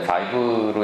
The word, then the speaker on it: Vive: 그래서 간단하게 저희 회사 소개를 드리면 이제 그 비브 스튜디오스라는 회사가 사실 19년 정도 됐고요. 네, 저 발음이 원래 바이브로 읽는 게 맞는데 이제 저희는 원래 비브로 그래서 많이 헷갈려들 하십니다.